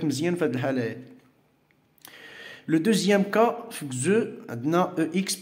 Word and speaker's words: deuxième: Alors, on a le son X, ça se prononce Z, qui est Z. هذا في الحالة ديال les adjectifs numéro ordinaux في واحد الصفات ديال الترتيب. Par exemple, deuxième, sixième, dixième.